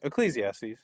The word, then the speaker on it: Ecclesiastes: Ecclesiastes. Is that how you say it? Ecclesiastes.